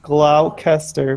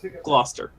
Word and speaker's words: Gloucester: Leonard Campanello, the police chief of Gloucester, Massachusetts. Gloucester. No, Levi. Gloucester, Massachusetts. No, it's Gloucester.